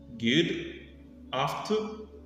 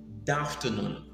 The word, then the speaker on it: good afternoon: Mais lorsqu'on prononce par des natifs, les Américains, ça part très vite. Au lieu de good afternoon, ils vous disent d'afternoon. C'est comme si on supprimait la première syllabe, le gu part, on reste avec D et puis on fait la liaison d'afternoon.